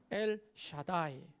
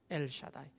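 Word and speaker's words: אל שדי: 이야기하면 요 한번 따라해 보실까요 예 샤다이 잘못 발음한 다 안 됩니다 얘를 차다고 이렇게 하면 됩니다 엘 샤다이 엘 샤다이 엘은 뭐예요 보통의 1일부터는 하나님이 야 있으라 l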